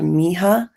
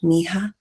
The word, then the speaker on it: Miha: There's news that Wes was in at least a 1-year relationship with a girl called Miha. That's how she pronounced it on TikTok. She was like, my name is pronounced Miha.